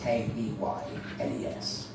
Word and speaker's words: Keynes: I know it's spelled Keynes, K-E-Y-N-E-S, but in our village we prefer to pronounce it Keynes.